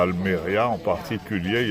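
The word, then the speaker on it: Almería: Alors, j'ai remarqué sur la sur toute cette côte à Alméria en particulier, il y a un passé au maritime comme ici quoi. Mais à Almeria, Alméria accentonique sur le ILMA tout le monde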